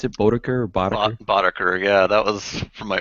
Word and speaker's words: Boddaker: Is that how you pronounce it, Boddaker or Boddaker? Boddaker, yeah, that was from my early LAN party days.